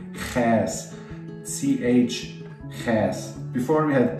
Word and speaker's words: Chäs: It's a bit of a special sound. It's like you clear your throat, so Ch, Ch, Ch, okay? Chäs, like Chäs fondue.